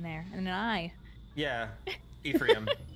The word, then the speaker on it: Ephraim: Sacred Stones it's heavily implied that Erica in a frame I don't know how to say his name Ephraim F yeah e-p-h-r-a-i-m I always said a frame